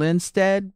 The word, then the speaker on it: Linstead: And they go to Reverend Keith King and Christian Tabernacle Baptist Church, Reverend Luke Shaw and Linstead Baptist Church. Yes, did I pronounce in Jamaica, that correctly? Linstead, yes.